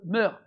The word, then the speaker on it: mœurs: Donc il faut qu'on soit sûr que ce traducteur-là aussi soit de bonne mœurs. Je dis pas mœurs, le S ne se prononce pas.